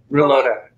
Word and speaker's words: Rulloda: well as Phil, I know I'm going to mispronounce his name. How do you say his last name? Reloda.